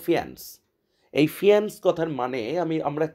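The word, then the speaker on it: faience: বিশেষ, এক কথায় ফিয়ান্স, উচ্চারণটা হলো ফিয়ান্স।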